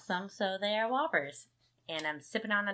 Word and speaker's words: Whoppers: I'm eating Whoppers, or what I like to call Whoopers, but they make Josh mad when I mispronounce them, so they are Whoppers.